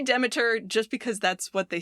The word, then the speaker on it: Demeter: They do pronounce it Demeter. Both are, I've heard both. Yeah, it's okay. So I'm going to say Demeter just because that's what they say in the game.